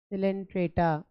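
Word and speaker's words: Coelenterata: जो भी पढ़ाया वो फाइलम सिलेंट्र इसको हम संग डेरिया भी बोल देते हैं ठीक है इसको हम सघ डेरिया भी बोल देते हैं सी इसमें साइलेंट है संग सिटा या संग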